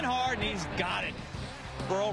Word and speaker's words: Burrell: and he's got it pearl rhymes with pearl not happy we look